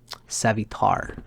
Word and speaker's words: Savitar: Savitar is how it's said here.